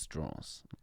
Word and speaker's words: Strauss: that in the movies Strauss it's actually pronounced straws L Sho Sal yeah